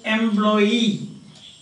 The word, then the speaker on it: employee: Stress on suffix. Understand? So, employee. Employee. Here is the stress.